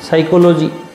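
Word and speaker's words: psychology: शास्त्र philosophy philosophy मनोविज्ञान साइकोलॉजी P first letter इ साइलेंट लेटर पहला जो अक्षर है वो मुख अक्षर है जिसका उच्चारण नहीं होता समाजशास्त्र सोशियोलॉजी सोशियो लजी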